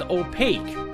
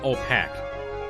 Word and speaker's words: opaque: the sort Liggins it's pronounced opaque not all packed right I always forget